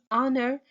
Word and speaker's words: honor: we will see so we pronounce it with o not H we say honor not